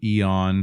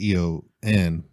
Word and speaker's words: Aeon: of time you would it is EO n but this is a on this yeah this is literally spelled with the AE blend thing like Aether the a is silent yeah I don't know I think AE is hasn't make e sound on is her last